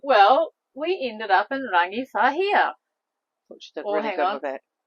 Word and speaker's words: Rangiwahia: Go on, pronounce it. You know how to say the town. Well, we ended up in Rangiwahia.